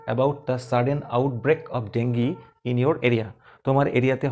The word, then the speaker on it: dengue: Outbreak of ডেঙ্গি, English উচ্চারণটা ডেঙ্গি, কিন্তু বাংলায় ডেঙ্গু।